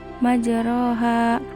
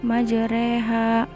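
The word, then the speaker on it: مجريها: Jangan sampai salah yaitu dengan memiringkan patah pada huruf ro kepada kasrah Hai jadi cara membacanya tidak majroha akan tetapi menjadi majreha Fatah yang dimiringkan kepada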